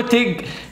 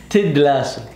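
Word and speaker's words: Ted Lasso: لا مو تيج، تدلاسو. تدلاسو. تدلاسو. بعدين نكمل. لا ما بعدين نكمل، تنطقيها صح. تدلاسو.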